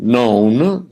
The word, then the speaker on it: none: None, no, known, stone. In order to rhyme with stone, it has to be pronounced known.